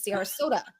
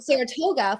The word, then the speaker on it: Sarasota: like I even had to learn how to pronounce the name of the city which is Sarasota ex said Saratoga for like five months you know before I